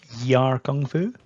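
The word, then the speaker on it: Yie Ar Kung-Fu: Yie Are Kung Fu. Aye, he misses out the Y, it's a silent Y.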